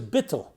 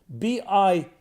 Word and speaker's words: bittul: The word is bittul. I'll spell it. I'll transliterate, spell it B-I-T-T-U-L, bittul.